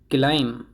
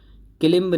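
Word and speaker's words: climb: क्लाइम, ये क्लाइम है, क्लाइम होता है ये। क्लिम्ब नहीं होता है, ना ही क्लाइंब होता है। इसमें बी साइलेंट होता है, तो ये क्लाइम बोला जाएगा।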